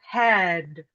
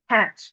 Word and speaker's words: head: The word head. Head. It is written with a D sound. But German speakers tend to devoice the final voice consonant which is a D and say hat.